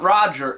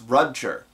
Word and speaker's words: Rudger: pronounce it it's it's there's a ongoing joke about it no it's not Roger it's rudger um uh where like